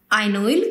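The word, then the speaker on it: ynoyl: 2 methyl ब्यूट 4 आइनोइल chloride. आइन बोलते हैं ना, आइनोइल क्लोराइड। ठीक है ना? समझ में आया? प्रोनाउंसिएशन समझ में आया? हम आइन बोलते हैं ना, इन आइन, आइनोइल क्लोराइड।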